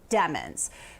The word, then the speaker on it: Demons: heard demons and demons apparently the name is pronounced demons but there have been several times in which